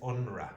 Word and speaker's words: UNRWA: And the pronunciation of this is UNRWA. UNRWA. Okay, you don't pronounce.